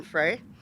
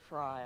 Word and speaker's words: Frey: I'm now going to introduce our very special speaker, Attorney General Erin Frey Fry. Excuse me. I knew I'd do that because if I look at it, I say it wrong. Fry, I'm sorry.